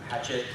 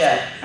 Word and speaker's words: Hachette: I have a book coming out with Hatchet, or Hachette, however you want to pronounce it. Hachette.